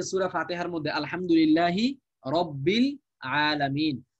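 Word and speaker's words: رب العالمين: এই হামজাটা মানে এই হামজাটা পূর্বের কোন শব্দের সঙ্গে মিলে আসলে উচ্চারণে আর আসে না, উচ্চারণে আর আসে না। যেমন দেখেন আল আলামিন, এই যে সূরা ফাতিহার মধ্যে আলহামদুলিল্লাহি রব্বিল আলামিন, তো শব্দটা হচ্ছে আল আলামিন, আল ছিল, কিন্তু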